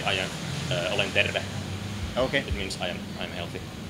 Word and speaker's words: terve: Terve. Terve? Terve. Terve? Pretty close. Okay. The rolling R is pretty important. Oh, terve. Terve. Terve. Like derve, but terve? Yeah, you spell it like T-E-R-V-E.